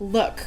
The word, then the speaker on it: Lewk: Lewk? Why did I say it like that? Look, like L-E-W-K.